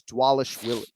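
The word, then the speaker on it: Dvalishvili: he's your fighter uh the bees are pronounced as w so it's dwallish willie the vile is shelley unbelievable wow that's way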